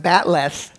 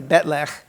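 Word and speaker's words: bat'leth: But somehow they miscopied it or something, and it ended up in the script like that, pronounced batleth, which contains non-Klingon sounds, but that's the way people kept saying it when they're talking English anyway. So I Klingonized it to Betlech, because that's closer to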